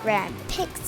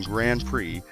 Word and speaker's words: Grand Prix: driving you can do that's actually pronounced time trials in Grand Prix but I have to admit time travel and Grand pick do sound pretty cool starting out you get